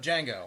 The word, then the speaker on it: Django: No, Boba Fett, son of Django. Oh, I love that movie. Jamie Foxx was hilarious. No, it's a different Django. Different movie, different genre. And there's no D. Oh, I know. The D is silent.